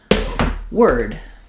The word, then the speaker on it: word: You might think it says the or sound like in for or more. But in the in the word word, the the letters O R don't say or. In fact, the sounds of word are the W for the W, the for the letters O R, and the D for the D.